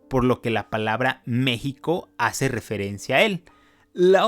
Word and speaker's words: México: Además, cabe señalar que México es la versión castellana. La X originalmente en náhuatl se pronuncia como sh.